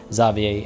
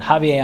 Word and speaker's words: Javier: I always hesitate with Javier because I've heard Javier pronounced in a few different ways. Javier, Xavier, and recently, relatively, Xavier as well, with the X actually said that way. So a little bit of hesitation there. But Javier, I'm pretty confident, is the appropriate pronunciation for at least the Iberian Peninsula. I can't speak specifically to Basque. I think Spanish, it's Javier, right?